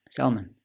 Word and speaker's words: salmon: yeah salmon yeah salmon salmon yeah yeah what's that i said it's a silent l is it yeah well